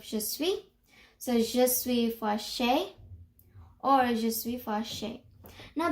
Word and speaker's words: fâché: Now, je suis fâché, you pronounce it fâché, or you can say it as fâché, if that makes a little easier to learn how to pronounce this word, which means I am mad or angry.